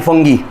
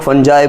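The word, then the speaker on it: fungi: And certain bacterias and फंगी. ठीक है, अब कुछ लोग फंजाई बोलते हैं, कुछ लोग फंगी बोलते हैं, कुछ लोग अलग अलग प्रोनाउंसिएशंस हैं.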